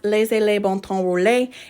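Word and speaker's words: Laissez les bons temps rouler: This phrase is pronounced Laissez les bon temps rouler.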